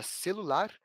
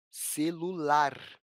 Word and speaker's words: celular: possuem uma sílaba tônica da palavra celular tem como se lavar mais forte a sílaba Lar celular ela parece mais clara e a gente pronuncia ela é mais forte e para ele estar